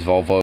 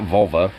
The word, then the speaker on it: Volvo: than 1990s Volkswagen vulva I'm saying Volvo or Volvo it's not vulva yeah we can't get it I mean even though it's spelled differently the first part of the word does sound similar but it's it's the more of a Swedish word so it's also going